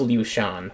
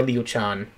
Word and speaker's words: Liu Shan: Ado, also known as Liu Shan, or Liu Chan, depending on how you pronounce it, turning on what that thing, or Ado, which, Ado, or Lord So-and-so behind, how terrible.